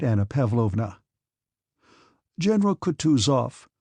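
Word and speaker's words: Kutuzov: said Anna pavlovna General coutu off said bonsky speaking French and stressing the last syllable of the general's name like a Frenchman has been pleased to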